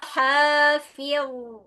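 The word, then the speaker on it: حافظ: Ha dengan ha beda secara pelafalan. Yang satu ha, yang satu ha. Jadi enggak boleh sama. Bukan alaiha ha tapi alaiha hafiz fir dibaca dengan tebal ya kalau bisa ngikutin hafiz ya d dibacanya tebal falyanil insanu mimma khuliqo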